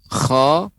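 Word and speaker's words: خ: Kemudian huruf kha, khi, khu, akh. Kho, Hi, Hu, Ah. Ya, huruf kha dia ada seperti garukan. Ya, para ulama menyebutkan hikkah.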